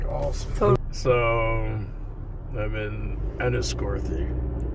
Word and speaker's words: Enniscorthy: So, I'm in Enniscorthy. Enniscorthy. Enniscorthy? Ireland. Okay. The H is never pronounced. The TH is... It's like tree... Instead of three.